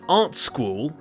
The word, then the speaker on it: Art Sqool: game about that stuff in art school which yes is pronounced that way you've got to draw